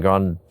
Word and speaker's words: Grande: Miley Cyrus and Ariana Grande, is that how you say it?